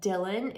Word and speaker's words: Dyln: water bottle so have you guys heard of Dylan it's spelled D Y Ln so I have two